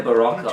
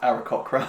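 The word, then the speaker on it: Aarakocra: I think I need a baraka or something. I don't know. Well, hang on. It's Come here. pronounced Arakokra.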